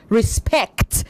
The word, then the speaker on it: respect: respect you said respect respect the stress is on the second syllable um O Lord access